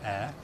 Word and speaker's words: Ayr: to Scotland starts on Wednesday to cover the air show Festival of flight at air I think that's what I'll go with from now on to spell it out air it's about Ayr Air Show